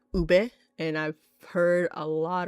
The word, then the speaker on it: ube: I think Filipino food is very underrated but it's starting to get more attention lately especially with ube. And yes it's pronounced ube.